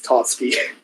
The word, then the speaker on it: Tatsuki: I do find it funny that you pronounced her name wrong. It's Tatsuki.